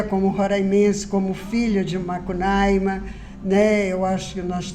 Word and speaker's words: Macunaíma: eu canso de falar que eu sou contra quem fala Macunaíma, entendeu? Não é Macunaíma, né? Então é Macunaíma, né? A pronúncia é certa, né? Mas já na linguagem habitual é Macunaíma, né? Que é Roraima, é Pacaraima, é Sorocaima. É tudo mais aberto, né?